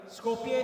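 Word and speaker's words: Skopje: Scopia is in North Macedonia. That's how it's pronounced.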